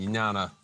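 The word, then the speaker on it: ज्ञान: And jnana, I think I was pronouncing it right, J-N-A-N-A. I could never get that one right, because J-N is not a thing we use in our language, English.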